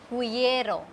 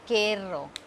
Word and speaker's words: quiero: We will not say it quiero. We will not say it quiero. We will say it quiero.